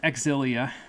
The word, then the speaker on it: Xillia: I said last time it is probably pronounced exilia because that's what Japanese people say but I am not Japanese I am English so it is like a zillia last time we began